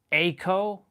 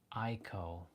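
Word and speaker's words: Eiko: up pronouncing and they pronounce they like they pronounce it echo. It's not echo. It's eeko or echo.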